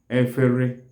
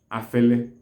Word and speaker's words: efere: All kinds of plates in the kitchen are called efere. Efere is spelled as E-F-E-R-E. Efere. E-F-E-R-E. Efere. Then in some parts of Anambra State, efere is pronounced or is called afele or efele.